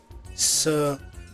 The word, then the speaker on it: sequela: How to pronounce? Sequela.